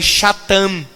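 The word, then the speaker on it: שטן: uma palavra chamada satã mas no hebraico as incentivou pronunciar schattan que seria satanás que significa opositor adversário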